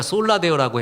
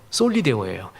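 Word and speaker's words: Soli Deo: 그랬더니 원래 우리가 솔라데오라고 했는데 아무리 원어 찾아보고 책 찾아봐도 솔리데오로 나옵니다라 그래요. 맞아요. 솔리데오예요.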